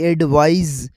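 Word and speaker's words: advise: अब दूसरा वर्ड है एडवाइस, जो आखिर में SE लगता है, उसकी प्रोनाउंसिएशन होगी एडवाइज। To suggest, to recommend इसकी मीनिंग है, जैसा कि आई एडवाइज यू to study regularly.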